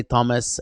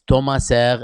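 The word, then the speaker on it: Tomasa: wonderful uh tomaser and i've learned to say his name because we're not supposed to say thomas and we're not supposed to say ceres so it's tomaser and it sounds very very nice um i am very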